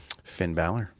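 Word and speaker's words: Finn Bálor: How do you pronounce his name? Finn Balor.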